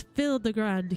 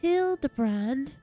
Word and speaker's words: Hildibrand: Since parting ways, I've searched every alley and dive bar and ever keep for signs of this fil the grand character. It's pronounced hill the brand.